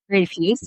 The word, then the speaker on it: Rafuse: Yeah, I mean, it'd be pronounced Refuse, but Refuse, okay.